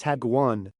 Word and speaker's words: hagwon: It is pronounced hagwon.